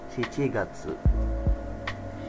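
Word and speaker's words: 七月: siici nah dalam bulan kita pakainya siici makanya menjadi si Gatsu bulan Agustus atau bulan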